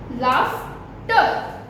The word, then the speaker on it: laughter: It's f. Laughter. Do you like the sound of laughter? F. Laughter. I need some rough.